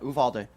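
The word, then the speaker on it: Uvalde: How do you pronounce it? Yeah. Uvaldi. Uvaldi shooting.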